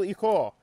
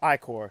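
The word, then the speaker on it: ichor: I can fill it with magical eore. It's pronounced Iicor.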